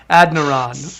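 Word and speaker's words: Adeniran: ad e yeah it's it's spelled ad e n i r o n so it's like adaran you know what right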